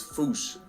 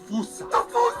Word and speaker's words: Fossa: apparently the correct way to say it is Foosh. Like Foosh, with a performance anxiety at the end. Experts feel free to correct me, but apparently that is the closest to the OG Malagasy pronunciation. It's just that the global game of telephone has Americans saying Fusa, while England pronounces it as Fossa.